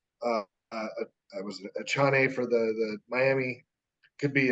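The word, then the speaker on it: Achane: I believe it's pronounced A-Chain, but I could be wrong. A-Chain? Yeah, it's like, like what they put around their necks, Okay.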